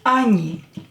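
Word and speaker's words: они: And oni oni. Again, o will be pronounced as a here.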